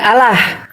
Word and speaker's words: Allah: Terdengar enggak ada seperti O-nya. Ini yang Arab. Arab asli dia. Allah.